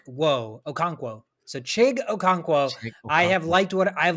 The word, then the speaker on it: Okonkwo: hard to pronounce so his first name he uh abbreviates it so it's just chig c-h-i-g-chig and his last name is O conk whoa okay so chig Okonkwo I have liked what